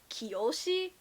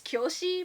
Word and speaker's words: Kyoshi: i guess in english everyone has been saying it as kiyoshi which is not how it says in japanese it's kyoshi but um okay actually